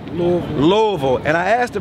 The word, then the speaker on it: Louisville: Demetrius brother is from Louisville don't say Louisville say L what how do you say it louville Louisville and I asked